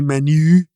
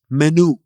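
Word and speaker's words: menù: See in Italian you don't say menu. It's menu. Menu. Yeah, the u.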